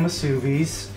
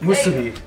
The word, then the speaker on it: musubi: So, I can spam msubis. That's not how you say it. Musubi.